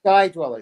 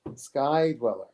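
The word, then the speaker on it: Sky-Dweller: good ones uh the sky dweller white dial guy dweller thank you i never pronounced anything right sky dweller thank you tim so i'll tell you my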